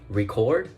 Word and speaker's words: record: as you can notice, if you say it record, you can see that you put like a stress in the syllable cord.